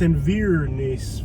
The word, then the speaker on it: Inverness: Look, I know how the locals pronounce it, okay? It's Inverness, Florida.